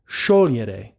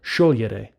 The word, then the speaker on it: sciogliere: And it's pronounced, the infinitive is pronounced sciogliere, not sciogliere. So, sciogliere. Not to be confused with scegliere, to choose.